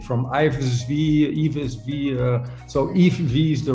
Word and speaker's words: Yves V: start by asking you like how do you pronounce your name is it yeah actually that's quite good if v it's a very difficult name yeah yeah i